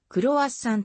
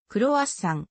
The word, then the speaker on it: croissant: となっているフランス語ではクロアッサンと書きクロアッサンくるは山または子はさんと発音するあまり普及して